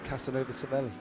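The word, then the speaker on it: Casanova-Savelli: YouTube video of um how it's pronounced in Italy by a commentator um with it being Casanova Seveli.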